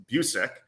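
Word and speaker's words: Bucyk: you on super attentive I have to correct your pronunciation you're currently not a hockey fan that's okay it's Busick it's named after a former former hockey player Johnny Busick and I do love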